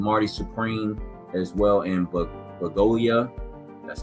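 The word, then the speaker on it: Bugonia: They put One Battle After Another in musical or comedy, right, along with Marty Supreme as well in Bagolia. That's how you pronounce it.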